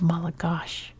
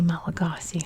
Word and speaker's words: Malagasy: For example, the language is called Malagash. We say Malagasy.